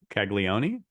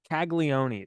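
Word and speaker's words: Caglianone: colon kig how do you say his name kagon kagon thank you I wrote I wrote down like the name pronunciation you even wrote it phonetically and you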